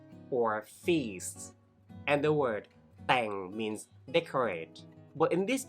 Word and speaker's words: แต่ง: feast and the word Tang means decorate but in this term it means to arrange especially to arrange a marriage it's pronounced with a low tone so means the event